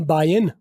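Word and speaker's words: buying: bulk की बजाय आम बाइन बाइन अब देखिए बान मैं जी साइलेंट कर दिया बान का जी बोल लो आई एनजी वाले जितने भी वर्ड होते जी बोलो तो भी ठीक है साइलेंट कर दो तो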